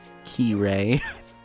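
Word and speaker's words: Kairi: Key-Ray. That's how her name is actually pronounced.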